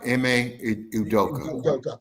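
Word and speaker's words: Ime Udoka: how do you say his name properly uh em udoka okay they're doing a fantastic job down in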